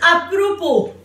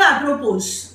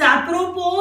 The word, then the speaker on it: apropos: The word is apropos and not apropos. The word is apropos. You have to pronounce it the way I do that, and you have to pronounce it with me also.